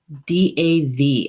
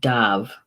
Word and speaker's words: Damh: stag is pronounced Tov DAV I hope I did that right Dov DAV is the phonetic spelling of it and the Gaelic spelling is D am h d am H but it's pronounced dove in English it's tag